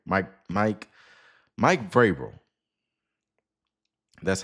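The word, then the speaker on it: Vrabel: Mike Vil Mike Vabil. Mike Mike Vil, that's how you say it.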